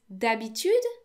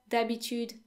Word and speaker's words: d'habitude: Next is d'habitude.